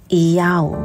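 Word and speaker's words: ΙΑΩ: The Yod as Iota, Hey as Alpha, and Vav as Omega, pronounced as Iyau.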